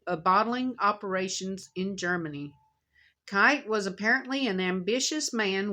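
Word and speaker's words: Keith: power a German named Max kite is Kei t h but it says it's pronounced kite went to work for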